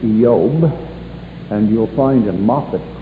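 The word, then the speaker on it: איוב: is messed up actually in the hebrew it's pronounced yob and you'll find in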